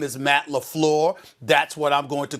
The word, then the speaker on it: LaFleur: His name is Matt LaFleur.